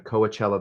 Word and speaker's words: Coachella: That is what I have for you guys from all of us here in the Coachella Valley.